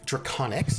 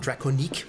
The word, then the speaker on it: Draconics: for being here drac draconics not draconique although i still want